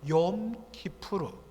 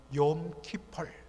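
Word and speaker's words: Yom Kippur: 대속죄일, 히브리어로는 욤 키푸르, 영어식 발음으로는 욤 키폴, 속죄의 날, 대속죄일 날.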